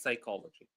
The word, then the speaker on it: psychology: So that's how we write psychology. Psychology. Uh there is a silent word. There is a P is silent.